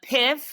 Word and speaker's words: PYFF: So PIF is how I pronounce it.